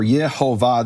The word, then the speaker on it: Yehovah: recording, who say that the vowels are Yehovah, this is the name of the creator of the universe and the true pronunciation.